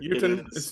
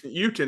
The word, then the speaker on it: Jotun: Uten. Uten is the way it's pronounced. Uten.